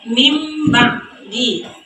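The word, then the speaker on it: مِنْ بَعْدِ: Contohnya pada bacaan min ba'di. Jadi cara membacanya mim ba'di. Karena nun mati atau tanwin tersebut diubah menjadi bunyi huruf mim.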